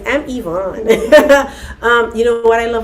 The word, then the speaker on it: Yvonne: her, by the way, where I'm from, we pronounce that word. Her name, Yvonne. But, she says, I'm Yvonne.